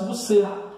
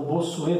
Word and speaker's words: Bossuet: Então aí é o Thomas Hobbes, tá, do Estado hobbesiano, e por último, né, o Jacques Bossuet, ou Bossuet, dependendo da pronúncia.